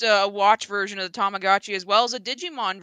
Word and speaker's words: Tamagotchi: to show people not me see how that's pronounced let me look at it here oh okay it's uh it's tamagotchi tamagotchi tamagotchi yeah i'm like friends do you remember the